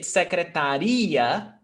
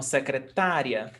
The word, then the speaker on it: secretária: Is it secretaria or secretária? Ditongo. Is ditongo. Então, secretária.